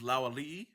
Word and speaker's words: Lauali'i: The way to say their last name is Lauali'i. I don't know. Where'd that extra vowel come from?